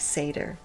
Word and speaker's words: seidr: sorcery of seder oh here they show in parentheses phonetically how to say it and it's seder so apparently it's ignoring the rule of when two vowels go walking okay Seder practice